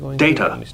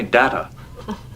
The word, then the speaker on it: Data: name it is pronounced data oh data look at this data what my name it is pronounced data oh you called me data what's the difference one is my name